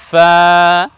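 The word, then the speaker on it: فاء: এই বর্ণের নাম হলো ফা। উচ্চারণ করতে হবে এইভাবে, সামনের উপরে সম্মুখ ভাগের দুই দাঁত এবং নিচের ঠোঁটের ভেজা অংশ থেকে লাগিয়ে উচ্চারণ করতে হবে ফা ফা।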